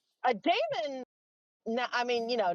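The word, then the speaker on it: daemon: One of my book series, you know, it's an ae vowel.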